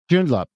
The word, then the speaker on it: Joondalup: Is that how you pronounce it? Joondalup.